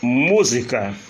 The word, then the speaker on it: música: Música, última, penúltima, antepenúltima.